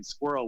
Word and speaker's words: SQWRL: them was better than the name Squirrel, which is what we ended up having, which is spelled SQWRL, and we're on iTunes